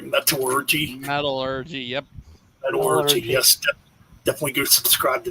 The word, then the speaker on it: Metallurgy: Metallurgy. Am I pronouncing it right? Metallurgy. Metallurgy. Yep. Metallurgy.